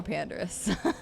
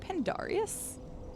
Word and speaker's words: Pandarius: I don't know, Pandorus. I don't know. Wait, I've been saying Pandorus. Is it Pandarius? Have I been saying your name wrong the whole time?